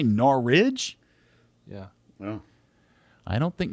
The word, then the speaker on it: Norwich: norwich i said norwich how do you say it norwich you say no ridge yeah well i don't